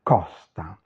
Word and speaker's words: costa: En italien, c'est ouvert, costa.